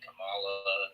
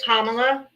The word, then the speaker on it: Kamala: Nobody even wanted Camala to run. Her name is Kamala. I said Kamla.